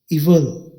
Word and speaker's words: evil: English में ई और वी और एल वल, इवल। स्पेलिंग में आपने EVIL याद रखने हैं। अब यहाँ पर आवाज़ में आई की आवाज़ नहीं है, वी और एल से